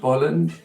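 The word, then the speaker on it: Bolland: Dave Gibbons and Brian Boland and I'm not sure if I'm familiar with those guys yeah it's pronounced byland b-o LL yeah um so so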